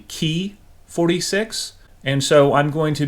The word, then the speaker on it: Ki-46: kit number is 61045 the correct pronunciation of ki-46 is actually key 46 and so I'm going